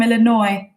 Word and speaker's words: Illinois: thank you hello from Illinois so I got a comment from one of you guys they don't pronounce the S on Illinois because people don't like